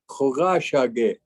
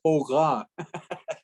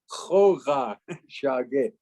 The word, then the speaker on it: Khoga Shage: Khoga Shage. Yeah, not Hoga. Khoga Shage.